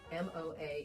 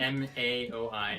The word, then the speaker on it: MAOI: That the vine of ayahuasca actually works like an MOA inhibitor. No, I always say it wrong. The MAOI inhibitor.